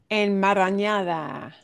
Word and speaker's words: enmarañada: Let's break this down because long words are really challenging to pronounce. And You're not kidding. en En yeah, let's say mar enmarañada.